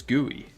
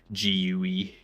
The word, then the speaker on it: GUI: It's gooey. Duh. That's a very weird way of of pronouncing gooey. I don't know why you're pronouncing gooey gui.